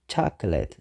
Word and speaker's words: chocolate: ኢና ወይ ከዓ ቾኮላታ but the proper pronunciation is chocolate ሰለስተ ሲለብል ኣለዎ chocolate። 11 biscuit ብዙሓት ሰባት